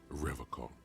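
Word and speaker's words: Revachol: rev who he pronounces revocal with a hard k unlike other people serious question time this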